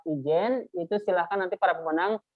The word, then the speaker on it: Ijen: Jadi tulisnya Geopark Ijen itu ya, IG-nya ya. Dibacanya Geopark Ijen.